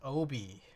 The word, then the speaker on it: obi: Uh it's a Japanese word pronounced obi which literally means belter or sash.